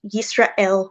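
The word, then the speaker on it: ישראל: It's the name of the prayer, and in this context, it would be pronounced Yisrael with like I've exaggerated it there, but a stop there.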